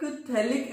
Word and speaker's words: phthalic: P is silent.